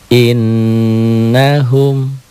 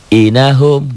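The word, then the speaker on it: إنهم: innahum apa hukumnya gunah Kenapa karena nunnya bertasid nunnya sidah ada P dobel cara bacanya Ya diobel dibaca ganda nunnya ya dengung ke hidung Ya ditahan ditahan Bukan a-nya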